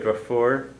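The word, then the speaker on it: deirfiúr: So more or less standard spelling pronunciation of brother is Drahar. And brothers Draharacha. Sister Drafur.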